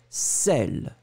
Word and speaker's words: sel: Donc le A, sel, très très fort. Le B, z, zèle.